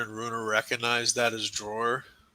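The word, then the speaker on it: Dror: Uh both Motier and Runer recognize that as drawer. It's spelled D R O R by the way if that matters.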